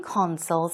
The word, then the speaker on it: console: it on some game consoles as well so I think we often say corn soy corn soy okay the pronunciation is console the stress goes on the first syllable we're talking about these